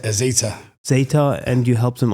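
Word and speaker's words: Zeta Global: I think also for you then, managing this one company, then also moving to Zetna Global, where you Zetna, how do you pronounce it? It's Zeta.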